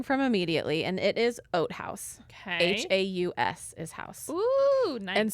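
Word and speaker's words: Oat Haus: will be purchasing from immediately and it is oat house okay h-a-u-s is house and so it is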